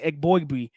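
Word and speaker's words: Eboigbe: from Bama man Justin e Abby that's what I didn't say it right the previous pod that we talked about him but I got it just now Justin EG boy man like yes Blake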